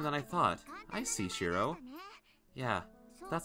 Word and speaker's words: Shiro: correctly uh the first time i've heard it pronounced like that too no if you have trouble remembering it you can call me shiro that's my name shiro oh it's an easier